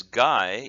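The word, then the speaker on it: 外: It can mean outside with soto, but if it's pronounced as gai, it could mean foreign, like gaijin, which is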